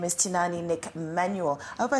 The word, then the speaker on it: Tinaani: is it a it's actually tinani tinani yes so people actually pronounce it like tinani tinani so you know